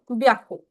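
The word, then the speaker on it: びゃく: पे ह्याकू ना लिख के हम लोग लिखेंगे ब्याकू ब्याकू एक्सेप्शन है दिस इज़ एक्सेप्शन ब्याकू तो आप इसको पढ़ोगे सान ब्याकू सान ब्याकु अब सान ब्याकू भी आप लोगों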